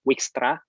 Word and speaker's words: Dijkstra: Ada juga jalan tengahnya, itu dari Stephen Dijkstra, WYKSTRA, gitu, Dijkstra, gitu ya bacanya.